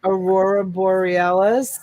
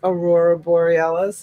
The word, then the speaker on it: Aurora Borealis: It was one of those words, Aurora Borealis. Am I saying it right? Yes, ma'am. And awesome. I love it. I love this Aurora Borealis.